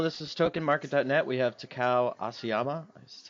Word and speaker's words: Takao Asayama: We have Takao Asayama, that's how you say it, from Bitgirls, and they just opened their ICO.